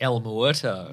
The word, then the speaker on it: El Muerto: How does this pronounced? El Muerto.